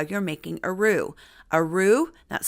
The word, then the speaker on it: roux: Bacon grease is the traditional foundation for the roux.